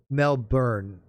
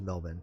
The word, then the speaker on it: Melbourne: life yeah yeah um mel byrne melbourne melbourne pronounced mel byrne see i i was told as melvin i don't know i